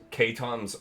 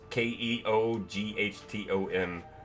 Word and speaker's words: Keoghtom: And you find a potion of, I don't know how to say this, Keton's ointment. It's Keoghtom.